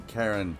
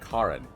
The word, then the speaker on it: Karen: that the main Le Karen excuse me her name is actually pronounced Karin Ken died and um